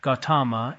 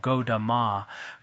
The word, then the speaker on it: Gautama: Gautama, in our Tibetan we call Godama, Godan de la Shangtsa Lo. Some Tibetan texts use Godan, 2 syllables. Some use Godama.